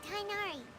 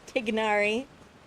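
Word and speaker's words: Tighnari: Let's head back to meet Tainari. Tignari. They pronounced Tignari wrong.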